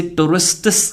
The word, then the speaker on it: tourists: सो यहाँ पर आप टी को साइलेंट कर सकते हैं. जैसे टूरिस्टिस कहने की बजाय टूरिस्टिस, सिस जैसे सिस्टर को बोलते हैं, सिस, टूरिस्टिस.